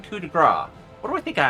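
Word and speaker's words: coup de grâce: Also, why am I saying coup de grace? What do I think I am, American? Coup de grace. There's an E at the end, so you pronounce the consonant.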